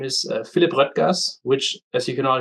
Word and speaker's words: Röttgers: Uh you can tell it from the umlaut, the ö. So, it's Rütgers, but uh I have had people calling me uh Rod Gers or Rogers, or whichever way you you prefer to prefer pronounce it.